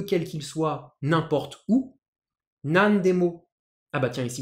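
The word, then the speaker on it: 何: Nan demo. Ah bah tiens, ici vous voyez, le kanji nani se prononce nan parce qu'il est suivi par un kana qui appartient à la ligne des D.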